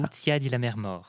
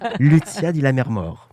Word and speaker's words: Lucia di Lammermoor: Oui, parce que vous avez assisté à une représentation de, alors j'espère que je prononce bien, Lucia di Lammermoor. On demande aux spécialistes de l'opéra, ça se dit comme ça? Lucia di Lammermoor.